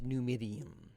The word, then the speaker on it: Numidium: Centuries ago, Tiber Septim ruled the land and forged an empire with great Numidium. Yes, okay, I did pronounce that right.